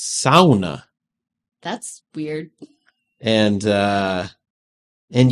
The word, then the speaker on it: sauna: I'm like where's Finland and it's it's actually pronounced SAA that's weird and uh and you you are